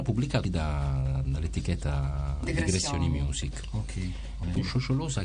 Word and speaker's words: Shosholoza: Prima con Rossella, lei mi ha corretto più volte sulla pronuncia, facendo benissimo. Cerco di ripetere. Sciosciolosa.